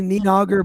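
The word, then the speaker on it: Níðhöggr: No, it's easy. N I D and then hog. H O D. Then just put a R at the end.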